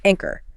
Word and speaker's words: anchor: Like anchor, the sheet makes a K sound. Anchor.